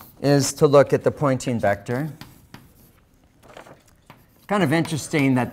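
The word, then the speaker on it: Poynting: to look at the pointing vector kind of interesting that this name rhymes with pointing sounds the same as pointing that is the direction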